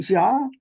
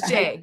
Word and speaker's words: Jai: I'm like is it Jah it's j just like the letter J oh J you see